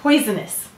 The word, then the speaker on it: poisonous: How many syllables in poisonous? Three. We will say to spell poi-zon-us. What will we say to spell? Poi-zon-us. All right, let's sound it out. The first syllable is poi, p-oi.